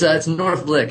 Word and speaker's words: Northlich: So you work for an agency called Northlich. Did I say it right? It's Northlich, actually.